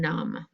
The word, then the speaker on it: numb: you have numb and there it is it is the mb so let's underline it and cross off the b because we don't say numb we just say num all right my friends